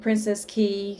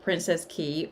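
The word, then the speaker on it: Princess Cays: And something about Princess Key, or you can pronounce it Princess K. It depends on, kind of where you're from, how you'll pronounce it, if you're native or not. But from everything that I'm seeing on the internet, Princess Key is how you pronounce that.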